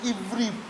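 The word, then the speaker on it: עברי: इब्री आइभीआरआई Okay, Nepali ma Ivri bhane leख्नुस् है. नेपालीमा इब्री भनेर Ivri, pronounce इब्री nicely.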